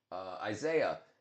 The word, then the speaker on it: Isaiah: I think I said his name wrong. It's not Isaac, is it? Isaiah.